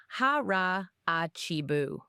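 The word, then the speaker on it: 腹八分: Harahachi Buu. It's pronounced harachibu.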